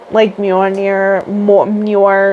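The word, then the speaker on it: Mjölnir: Mjolnir, whatever. Mjolnir? Yes. Mjolnir? Okay, so that is how it's pronounced, because I was surely this is wrong.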